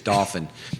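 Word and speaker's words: Dauphin: home's not finished but dolphin is spelled d-a-u-p-h-i-n not like the porpoise but if if you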